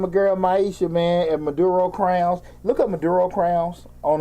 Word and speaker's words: Maduro Crowns: this is from a girl Maisha man at Maduro crowns look at Maduro crowns on uh on Instagram